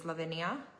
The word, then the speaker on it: Ladenia: more interesting names like one of the recipes is lavania, um but it's spelled ladenia.